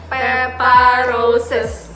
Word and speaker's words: Pepa Roses: Jadi jangan lupa di pronounce-nya Pepa Roses gitu Agak ya.